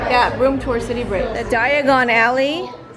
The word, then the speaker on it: Diagon Alley: room tour City Bridge Diagon Alley don't say diagonally you'll end up somewhere else so ravioli Okay so